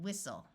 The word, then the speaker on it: whistle: when a word starts with w the W is silent so this word is wrestle Apostle and whistle words ending in sen also have a silent